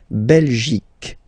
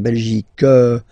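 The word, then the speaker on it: Belgique: okay La belic okay remember here you will get only the sound C okay belic belic so it's not belgic not at all okay because it's only the belic okay okay Denmark so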